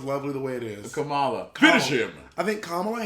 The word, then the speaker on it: Kamala: to be like uh we call her uh kamala you know everybody calls it kamala you know i call it kamala her name is kamala i know but but